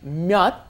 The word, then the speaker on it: 몇: Yes, you may notice that symbol at the bottom of the 몇 is a CH. You may be saying, why don't you say the CH? It's pronounced just as a closed off D, 몇, because it comes as